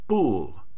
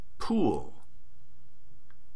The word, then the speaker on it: pool: To pronounce pool in English, the correct allophone of p is aspirated. The aspirated allophone has a brief puff of air. With an incorrect allophone of p, it sounds like this, bull. With the correct aspirated allophone of p, it sounds like this, pool. Incorrect, bull. Correct, pool.